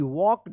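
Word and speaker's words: walked: एल के ई डी वॉक्ड यहां पे एल साइलेंट है वॉक्ड टवर्ड्स टवर्ड होगा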